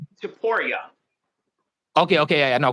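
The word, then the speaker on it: Topuria: Is it pronounced Topora or Taporia? Taporia.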